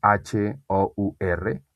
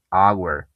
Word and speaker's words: hour: Pero si no tiene voz, por ejemplo, en hora, hour, se escribe H-O-U-R, hour. Pero no suena la H. Ahí me voy directamente a un sonido de vocal, hour. Pero hay una H, pero ahí no suena.